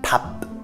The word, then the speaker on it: 밥: En fait, à la fin, le piup, il faut vraiment légèrement le prononcer, mais si vous ne le prononcez pas, ça fait pa.